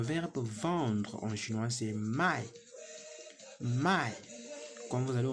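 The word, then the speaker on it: 卖: Le verbe vendre en chinois, c'est mai.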